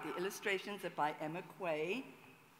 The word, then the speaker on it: Quay: The illustrations are by Emma Quay. Quay, not Key. Don't ask me why, but Quay is the way to pronounce her name.